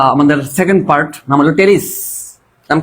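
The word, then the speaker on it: Pteris: আমরা শুরু করবো আমাদের সেকেন্ড পার্ট নাম হলো টেরিস নাম কি টেরিস বেশি জীবন ভালো না আর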